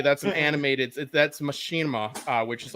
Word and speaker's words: Machinima: Machinima.